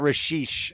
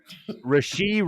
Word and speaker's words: Rashee: uh wide receiver rookie Rashi not rashish because apparently I pronounced it wrong she's Rasheed rice will have two touchdowns